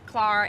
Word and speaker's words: Clar: so my Instagram is my name Clara it's spelled clar which is the Irish spelling of Claire but I go by both Clara or Claire so Clark music